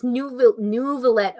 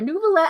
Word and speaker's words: Neuvillette: Oh, okay, it's Neuvillette. Okay, Nuvi Nuvi. I'm sorry, Neuvillette.